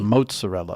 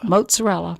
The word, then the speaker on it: mozzarella: earlier I would say mozzarella but you say it mozzarella and that's correct that's the way we say it in Italy mozzarella mozzarella but you're not doing